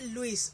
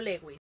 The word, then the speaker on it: Lewis: Se pronuncia correctamente Luis, no Lewis.